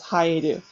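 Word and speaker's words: 生える: So that's when it's pronounced as haeru.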